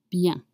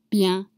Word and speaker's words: bien: It's spelled B-I-E-N. And again, you have a semi-vowels and the sound is un. Un. You have your mouth open. Un. Just like you when you're at the dentist. Un.